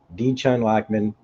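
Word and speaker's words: Dichen Lachman: to say here but I Googled it D Chun lman is how you pronounce Miss Casey's character's name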